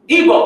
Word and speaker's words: Igbo: Usually you see they have the Yoruba as well, but usually they are the Igbo, excuse me. It's spelled in two ways, I-B-O or I-G-B-O, pronounced Igbo, and many say that Igbo means Hebrew.